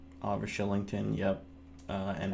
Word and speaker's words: Kylington: It's spelled Kylington, and it's pronounced Shillington.